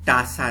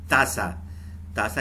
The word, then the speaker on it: tasa: तो TASA को हम प्रोनाउंस करेंगे टासा नहीं प्रोनाउंस करते हैं। टे वाली आवाज़ नहीं होती टी की, ते वाली, तासा यानी कि कप।